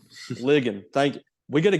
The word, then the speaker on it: Ligon: Ligon. Ligon.